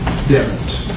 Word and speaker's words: Demons: it's been pronounced different ways here but it's pronounced diamonds all right protected right yeah thank you appreciate it okay so going into what's been previously offered into evidence as state 61.